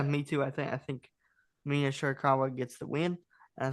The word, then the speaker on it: Shirakawa: I never can pronounce her last name. Shirakawa.